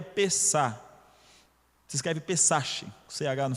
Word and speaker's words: Pessach: passar por cima o termo hebraico aqui é pesar se escreve pessach ch no final mas o que